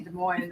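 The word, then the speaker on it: Des Moines: can never pronounce it just so you know de MO is spelled Des Mo the s's are silent that's a slogan here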